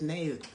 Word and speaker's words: Niamh: How do you pronounce it? She said, Nave. Nah, Nave? Yeah. Yet it's N-I.